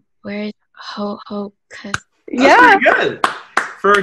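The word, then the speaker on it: Ho-Ho-Kus: I pronounced this right. Where is Hohokus?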